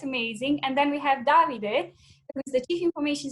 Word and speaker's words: Davide: with us, Jane and Davide. I think it's Davide, not David, so I'm going to use my Italian knowledge there, Davide.